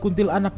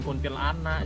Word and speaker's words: kuntilanak: Kali ini kita akan menyaksikan hantu si kuntil anak yang mati karena dia buang anaknya. Bacanya jangan dipisah, bukan kuntil anak, jadi aneh. Kuntil anak dong.